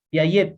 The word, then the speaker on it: Piaget: Jean Piaget, Piaget, Piaget, Piaget se escribe, Piaget, Piaget, G-E-T, Piaget, Piaget se pronuncia, ¿no?